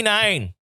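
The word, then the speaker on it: Nein: But not only that, the Mighty Nine, which is spelled like nine, like no.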